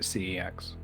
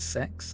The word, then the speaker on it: CeX: it pre-water shed by the way and and pronouncing it CeX I I watched an advert once and they pronounce it pronounced it sex and I just went no yeah all of